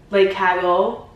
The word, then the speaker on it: Cagole: I'm gonna be doing a full unboxing of the super trendy Balenciaga, I think it's pronounced the Cagole.